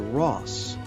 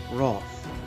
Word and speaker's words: Roth: When I say my last name, people sometimes hear Ross rather than Roth.